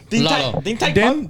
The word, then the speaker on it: Din Tai Fung: So she said she had some restaurant plans that we went to Din Tai Fung, which is one more time.